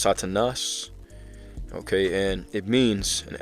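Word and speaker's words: Σατανᾶς: All right, pronounced Satanas.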